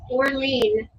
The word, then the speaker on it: Orlene: My mother's name was Orlene, Orlene. She'd always have to spell it because she'd usually say like New Orleans, but not spelled the same way.